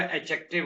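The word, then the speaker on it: adjective: एडजेक्टिव में मैंने आपको बताया था डी साइलेंट होता है। बोला नहीं जाता। लिखने में आएगा लेकिन बोलने में नहीं आएगा। ऐड एडजेक्टिव नहीं होगा। एडजेक्टिव होगा।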